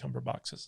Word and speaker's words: Cumberbatch: Plus, you have to factor into the fact that Benedict Cumberbatch's schedule.